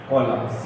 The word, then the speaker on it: column: भाई प्रोनाउंसिएट में एन का यूज नहीं है, लेकिन एन होता है। छोटी छोटी चीजें लेकिन उसको ध्यान में रखें। तो कॉलम बोलते हैं बेटा इसको।